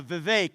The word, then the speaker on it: Vivek: your name it's uh Vivek it rhymes with cake I found that most